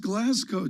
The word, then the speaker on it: Glasgow: this this is critical it's pronounced glasgow john did you not know that i don't know that what have you been saying i i just butcher it like moscow have you been saying the moscow pascal yeah we say